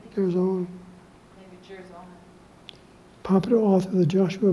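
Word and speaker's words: Girzone: Father Joseph Kirzon, by the way, you pronounce his name, Kirzon.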